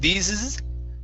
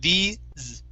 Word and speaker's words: these: last one here is these instead of these okay end with one z sound so these these these this good